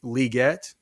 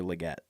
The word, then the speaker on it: Legette: Xavier Legette. It's Xavier Legette, not Xavier Legette. Okay. It's Legette, like the NFL National Football League, not Legette.